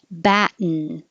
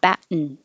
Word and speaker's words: batten: Batten. This is a in by itself because the tongue goes to the T, bat, and then you just make a n noise. Batten.